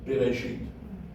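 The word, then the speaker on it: בראשית: Very quick you almost didn't hear the S sound, but we will say it as Bereshit, so that we can actually hear the S sound.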